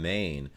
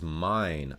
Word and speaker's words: Main: yeah i forgot franklin i would say frankfurt on main but it's mine oh my god bro